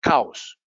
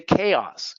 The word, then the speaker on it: chaos: Caos. Hay muchos caos. There's a lot of caos in my life. Suena como hay muchas vacas en mi vida. Caos. Caos. We say chaos.